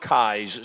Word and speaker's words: Keyes: Pronounced Keyes, spelled Keys, Keys, I believe.